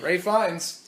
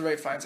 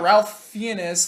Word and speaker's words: Ralph Fiennes: Yeah, and I mean, you wouldn't have noticed it was Ralph Fiennes. It's not Ralph Fiennes, like his name is spelled. It's pronounced very weird.